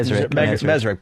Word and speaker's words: Mezrich: Mezri, Ben Mezri, of course, author of Bringing Down the House.